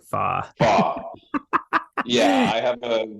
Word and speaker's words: Fach: So it's spelled Right. Fach, so Fach, but it's Yep. pronounced Fa.